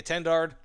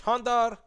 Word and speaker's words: Étendard: me if i mispronounce most people probably just say attendard but uh it's honda 4m i tried google translate